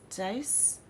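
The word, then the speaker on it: Deace: podcast from Blaze media his name is pronounced dice oh cool hey go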